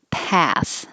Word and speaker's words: path: And path. Very American for this one. Um, So keep your jaw open and lips back.